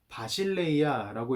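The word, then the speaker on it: βασιλεία: 이것은 성경의 원어, 즉 헬라어로 읽으면 바실레이아라고 읽는데, 우리가 방금 살펴보았던 나라라는 개념과 똑같은 개념을 가지고 있어요.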